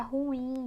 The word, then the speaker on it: ruim: em sala de aula, é ruim ou ruim? Ela é oxítona, gente. Então, ou então, a sílaba mais forte é o IM. É a última sílaba, ou melhor, a primeira de trás para frente. Por isso que ela é oxítona e não paroxítona.